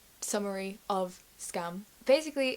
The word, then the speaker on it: Skam: a Norwegian show and because it's Norwegian it's not pronounced scam it's pronounced like scum because I'm British and